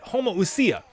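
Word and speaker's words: homoousia: means same and usia homo usia oh that's it homo usia and usia means essence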